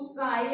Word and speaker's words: psi: क्या बोलते हैं, इसको साई बोलते हैं। This is known as साई। पी यहाँ पे क्या होता है, साइलेंट होता है।